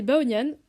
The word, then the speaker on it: Baonian: Salut, alors moi c'est Baonian, à prononcer comme la fin de Kylian s'il vous plaît, respectez mon prénom, et cette année je suis en prépa animation à Paris.